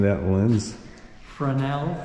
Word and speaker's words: Fresnel: Fresnel. Fresnel. Okay. Yeah, S is silent.